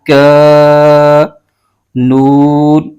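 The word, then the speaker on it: كَانَ: اس کو بغیر کھینچے پڑھیں گے۔ اس کے ہجے یوں کریں گے، کاف الف زبر کا، نون زبر ن، کان، آگے تا پر زبر ہے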